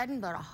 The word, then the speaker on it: Edinburgh: We went to Edinburgh.